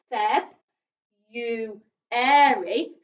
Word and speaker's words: February: february i don't and i don't think most people pronounce the r we say february so again the u